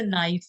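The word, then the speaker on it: knife: जैसे अपने काफी वर्ड्स होते हैं जिनके अंदर, जैसे नाइफ है, ठीक है, नाइफ के अंदर के तो साइलेंट होता है, फिर तुम बोलो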